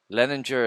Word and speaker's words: Leininger: Leninger is spelled Leininger.